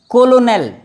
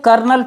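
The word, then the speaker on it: colonel: ये देखिए कोलोनेल, दरअसल इसको कर्नल पढ़ा जाता है लेकिन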